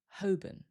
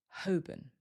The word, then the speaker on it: Holborn: This one looks like Holborn, but we don't usually hear the L, and the second syllable becomes weaker, so it usually sounds more like Holborn. Holborn.